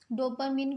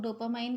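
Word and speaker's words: dopamine: डोपामिन कुछ लोग कहते हैं, कुछ लोग डोपामाइन कहते हैं, बोथ आर करेक्ट, आप जैसे चाहे प्रोनाउंस कर सकते हैं।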